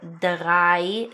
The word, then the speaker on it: dreißig: Pronunciation wise, it simply makes an 's' sound such in such as in the number 'dreißig' (30), okay, but what I want to point